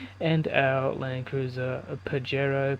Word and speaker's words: Pajero: Land Cruiser j80 and our Land Cruiser a Pajero Padero padaro however you want to pronounce it in whatever country you're from but